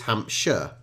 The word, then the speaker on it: Hampshire: Shire it makes sense if it was two words it would be Shire but when it's put together it's Hampshire and many younger Brits